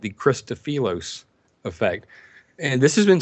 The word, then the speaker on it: Christofilos: And that heating effect causes something called the Christofilos effect.